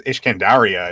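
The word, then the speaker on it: الإسكندرية: That was a lot of the because I think it was Ishkandaria is how you pronounce Alexandria in Arabic.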